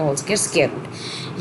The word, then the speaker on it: rho: इसकी प्रोनाउंसिएशन क्या है? रो, RHO रो। और ये लिखते बिल्कुल ऐसी हैं जैसे आप P लिख रहे हो। ठीक है जी, और इसको प्रोनाउंस क्या करते हैं? रो।